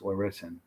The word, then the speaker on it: Larissa: We had a really cool, I thought it was Larissa. I feel like an idiot. I said her name wrong in the interview. It's Larissa.